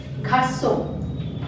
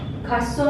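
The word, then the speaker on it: garçon: means a cake now this is g g g this is pronounced as s say with this symbol and this becomes kaso kaso means a boy a kaso next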